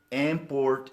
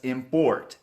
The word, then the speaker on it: import: the word import as import it is incorrect some people pronounce the word export as export please don't stress the second syllable please stress the first syllable not export export not